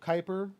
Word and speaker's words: Kuiper: like he really does well Kuiper like rhymes with Viper that like I'm just